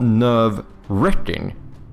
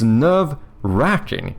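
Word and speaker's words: nerve-racking: It's not nerve wrecking, which I I thought it was, but apparently that's a just a common mispelling/misp pronunciation. It's nerve racking. Like you're racking nerves.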